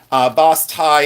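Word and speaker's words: basse-taille: But boss tie, if you look up boss tie enamel, that's the way it's pronounced, at least in Ohio. Boss tie is B-A-I.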